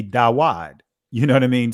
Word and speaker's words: David: Instead of David, because there was no V sounds in ancient Hebrew, it would be Dawad.